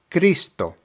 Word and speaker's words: Cristo: The pronunciation is Cristo, Cristo.